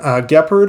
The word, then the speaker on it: Gepard: Ukraine has received 3 Gepard, I think is how you say it, anti-aircraft tanks. I used to call them Jeopard when I worked in NATO, and they used to make fun of me for it, but I